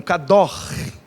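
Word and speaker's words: קדוש: Santo na Bíblia, kadosh é o conceito, a pronúncia seria algo parecido com kador, né? Kadosh, que é o gutural ali, né?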